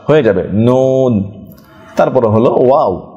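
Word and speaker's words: و: তারপরে হলো ওয়াও, দুই ঠোঁট গোল করে ওয়াও ওয়া ওয়া ওয়া ওয়া।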